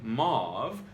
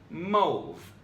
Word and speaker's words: mauve: Number 2, mauve. While most people say mauve, the correct pronunciation is actually mauve, as in rhymes with grove.